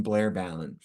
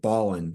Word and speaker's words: Balon: I basically I I've always pronounced my name Blair Balon but years ago someone or a bunch of people or the world started to think that the word Ballin was better and since it's spelled the same way and